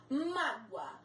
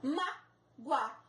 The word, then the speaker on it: mágoa: Mágoa. Ditongos são duas vogais juntas numa mesma sílaba. Mágoa. O OA estão juntos numa mesma sílaba. A sílaba forte é o má, acento no má.